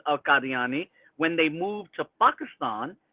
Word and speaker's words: Qadiani: So, and I grew up a Qadiani Ahmadi, and that's the proper way to say it.